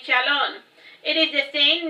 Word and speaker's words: Shalon: of those dead languages it is pronounced the same way as you do Shalom but with an n Sound at the end of it now back to the